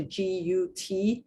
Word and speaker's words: GUT: those three merge into what is called the g-u-t and i i spell it because i'm i worry that with my